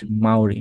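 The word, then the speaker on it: Māori: নাম হবে তারপর আসলে সাউথ আফ্রিকা হ্যাঁ রাইট মাউরি মাউরি ঠিক আছে এটাই তাহলে মাউরি হলে এম এ ইউ আর আই এভাবে মনে রাখতে পারো মাউরি সাউথ আফ্রিকাতে চলে আসো এদের এডমিনিস্ট্রেটিভ ক্যাপিটাল হচ্ছে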